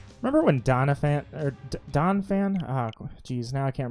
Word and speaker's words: Donphan: remember when Doniphan donphan oh geez now I can't remember I think I said it wrong for years I used to say Donna Fanning is just donphan phanpy and Don Payne